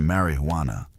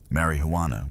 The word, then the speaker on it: marijuana: The term marijuana, often pronounced with a soft, rolling R, was initially a descriptor for a specific preparation of the plant, usually smoked.